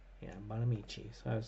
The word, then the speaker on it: Bonamici: Let's see, how do we pronounce this name? Okay. Bonamici. Yeah, Bonamici. So I was saying it correctly. Suzanne Bonamici.